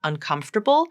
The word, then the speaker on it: uncomfortable: accent and in fact sometimes New Yorkers will pronounce the word un uncomfortable like she does uncomfortable uncomfort the the she's reduced that R sound to the schah sound now I don't recommend doing that with this word I recommend making sure you get the r sound in there uncom uncomfortable